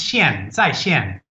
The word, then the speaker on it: 线: zai and the one on the right is sheen which literally means online which means online in